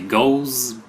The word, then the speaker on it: Gose: Ouais, prononce ça comme tu veux, Gose. Gauze, ouais. La Goose, j'ai Goose, compris, mais ouais. Goose, c'est G-O-O, pas de G-O-O. Ouais, c'est ça, vu que c'est comme poison, c'est juste un S sans Z, fait que c'est Gauze. Peu importe, prononcez-le comme vous voulez.